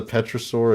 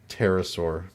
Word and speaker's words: Pterosaur: Yes, discovers the petrosaur in North America, the largest known genus of the species at the time, with a wingspan of over 20 feet. Spell that? Pterosaur.